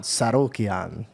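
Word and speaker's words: Tsarukyan: Arman Sarukian. Arman Sorokian. Now you say it. Arman Sarukian. Very good. But I like the way he says it. It's so nice. Arman That's AI, bro. Sarukian and Charles Oliveira.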